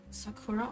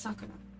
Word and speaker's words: Sakura: People just say Sakura all the time and I don't understand why. I don't know why that's a English thing that people do to like stress the middle syllable. It's Sakura. In Japanese, you have to be really careful about where you put your stress and how long the sound is, because you could say